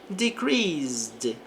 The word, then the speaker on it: decreased: Então, a temperatura, temperature, decreased. Aqui nós não pronunciamos o E, porque o verbo termina em S, e esse S tem um som de Z.